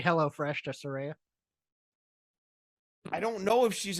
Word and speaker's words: Saraya: Saraya, as she has told us it is pronounced.